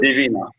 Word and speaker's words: Daivina: The stress is on the actually second syllable. Exactly. Mm-hmm. Divina.